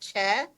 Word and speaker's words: Choi: And my last name is in Korean is Choi, pronounced Che.